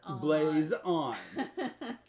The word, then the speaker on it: Blazon: so good keep reading it's blaze blaze on tate says the game